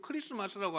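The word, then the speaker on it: Christmas: 것이요 성탄절이 영어로 크리스마스잖아요 발음이 스라고 하니까이가 묵음이 되어 가지고 크리스마스라고 하니까 잘 안 느껴지는데 원래는 크라이스트 마스 크라이스트 마스 그리스도 마스요 그러니까 그리스도 더하기 예배라는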